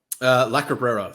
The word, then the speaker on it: La Cabrera: La Cabrera, that's how you pronounce it.